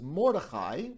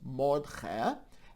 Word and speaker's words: Mordechai: In Hebrew, it is Mordechai, but in the Ashkenazi pronunciation, it's Mordche, and in the diminutive, it becomes Motel.